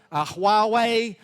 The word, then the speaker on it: Huawei: Uh LG uh Oppo Huawei um which thank you I pronounced that correctly.